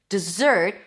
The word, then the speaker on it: dessert: And then dessert, stress on the second syllable, is the verb to desert.